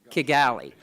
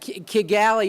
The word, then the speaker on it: Kigali: is that we've miss Kigali Kigali that Kigali is the way you pronounce it in Geechee that's what